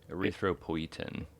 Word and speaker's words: Erythropoietin: Erythropoietin.